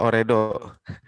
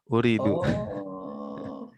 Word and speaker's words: ooredoo: ada uridu yang or tulisannya ooredoo tapi punya dua jadi bacanya u Hai ooredoo ooredoo Iya aku mau